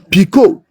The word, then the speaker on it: Picot: Picot. P-I-C-O-T. The T is silent.